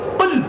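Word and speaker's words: قُلْ: কি আল্লাহ নিজেই বলছেন কুল কি বললাম কুল কুল কয়লা কুল কয় বাসলা কুল দুটো কুলের মধ্যে পার্থক্য আছে উচ্চারণের পার্থক্য মানে পার্থক্য আল্লাহ বললেন কুলু থেকে কুল মানে বলো আর আকালাই কুলু থেকে কুল মানে গেল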